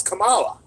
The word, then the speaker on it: Kamala: c not a k with a K it's Kamala but anyway Kamala Harris she's not even black or she had